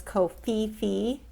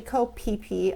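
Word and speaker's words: Koh Phi Phi: It's funny because I went there thinking it was Ko Fifi. It's actually Ko Pipi Island. That's how they pronounce it in Thailand.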